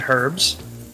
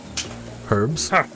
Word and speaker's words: herbs: simply can't divulge wait you actually say the H in herbs herbs yeah what's wrong with